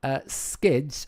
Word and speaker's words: SK1DS: And this is a game by a developer called Skids, and his name is spelled SK1DS, the numeral 1, SK1DS, Skids.